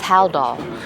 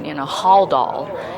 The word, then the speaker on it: Haldol: Like today, one of the normal things that we always say is Haldol, but for some reason in my mind I started saying it, Haldol, and our consultant was right there, Dr.